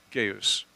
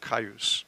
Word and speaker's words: Gaius: Gaius, or Caius, however you would like to pronounce it. It's proper any of these ways.